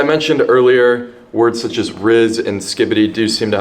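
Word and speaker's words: rizz: Now, the first word, riz, is transcribed as this, and it's pronounced riz, most commonly.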